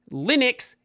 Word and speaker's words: Linux: of the video is how you say Linux pronounce Linux says Linux Linux is the only correct way to pronounce Linux if anyone's saying Linux or anything else like